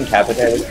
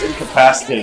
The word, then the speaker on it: incapacitated: Are you incapitated? Yeah. I'll help you up in a second. Oh! I actually looked it up. It's incapacitated, not incapitated. So we've been saying it wrong this whole time.